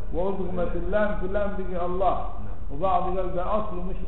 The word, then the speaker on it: الله: اللام في اللام دي الله ولذلك لفظ الجلالة في كم حرف أربع خمسة حروف لأنه عندك إيه في الكتاب يعني ألف ولمين تمام كده وفي الحقيقة ما ننطقش بلمين بننطق بلام واحدة مشددة الله الله زي تقول